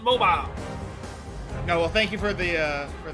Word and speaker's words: Mobile: It's mobile, not mobile.